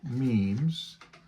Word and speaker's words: memes: Memes. Yeah. Memes, yes. Rhymes with dreams.